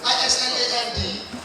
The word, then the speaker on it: island: And I should, so I said I-S-L-A-N-D can be pronounced as Island.